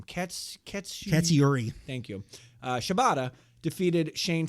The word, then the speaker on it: Katsuyori: Katsuyori.